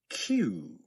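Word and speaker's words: queue: Q Q just like the letter Q.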